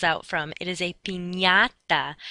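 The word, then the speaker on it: piñata: party is not a pinata that's not what the candy falls out from it is a Pata that NY sound sort of like how we pronounce lasagna n y okay the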